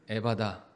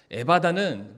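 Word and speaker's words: 에파타: 아 아입니다 아라모 그래서 원래 정확한 발음 표현은 에바다 아니라 에다 에다인데 저희가 이제 한글로 놓으면서 이거를 바다라고 우리가 그렇게 읽게 되는데 그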